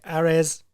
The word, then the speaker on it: Ares: He's the Ares FC champion, which is spelled like Ares, like the god of war. But because it's France, they say Ares.